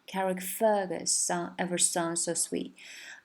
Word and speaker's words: Fergus: 这个 Fergus 它 fer 是强调的一个音节，Carrie Fergus ever sound so sweet。